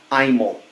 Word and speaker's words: Imel: First, my name is pronounced Imel, long I.